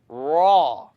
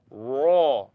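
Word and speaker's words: راء: Raw. The issue here is I don't want you to O your mouth. I'd rather you not do this. Raw. Don't use your lips to pronounce raw.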